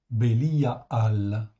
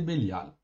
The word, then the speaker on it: Bélial: dans 26 versets ok en hébreu phonétiquement ça s'écrit comme ça béliiaal ok c'est Bélial et oui Bélial c'est